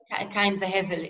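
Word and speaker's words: קין והבל: How do you pronounce it in Cain and Abel, yeah. Cain v'Hevel in Hebrew.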